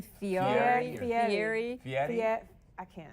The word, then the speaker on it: Fieri: Fieri. Fieri. Fieri? Fiat. I can't. I don't Some know. of the Ferraro? It's not Ferraro.